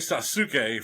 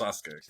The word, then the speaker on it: Sasuke: He was definitely the great Sasuk for the longest time. But over the years, I've learned that it's pronounced Sasuke.